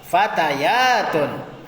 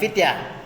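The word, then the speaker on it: فتيات: Nail Iqra hadzii fatatun fatayatunah Bukan fityah tapi fatayatun ya hadzii fatatun ini seorang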